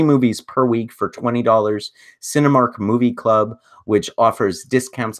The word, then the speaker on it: Sinemia: Cinemark Movie Club, which offers discounts on concessions, but it's 1 movie per month at $9.99. And Cinema, it's spelled SINEMIA.